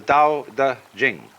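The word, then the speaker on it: Tao Te Ching: And the book is called the Dao Da Jing because again there's no apostrophe after the t so it's pronounced duh and jing.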